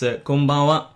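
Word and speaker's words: こんばんは: Don't try to pronounce the N sound too sharply. It's also not very practical. You can probably feel it if you were to say konbanwa. It doesn't sound very Japanese now, would it?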